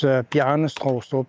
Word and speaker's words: Bjarne Stroustrup: English speakers and foreigners in general have some trouble pronouncing it. It's Bjarne Stroustrup. Try it a few times, then stick a potato down your throat and do it again, and then it'll sound about right, the way a Dane would do it.